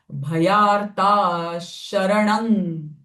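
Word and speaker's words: भयार्तशरणं: not saying bhayartaha, but the sh sound of visarga will come because the following syllable is sh. Bhayarta sharanang. The anuswara sound will also change. This is the perfect way of pronunciation. But if you feel it is difficult for you, then the natural sound of ma can be used, but that is not the most appropriate one.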